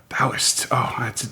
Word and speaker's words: Taoist: And we know for a fact that that's pronounced Taoist. Taoist?